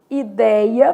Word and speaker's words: ideia: Aberto, som de acento agudo, vou colocar lá, por exemplo, ideia, perdeu o acento, mas o som é aberto.